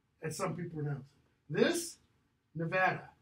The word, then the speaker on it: Nevada: some people knows this Nevada not Nevada listen to Mitt Romney the guy doesn't know worries and pronounces Nevada it's not Nevada so that's I mean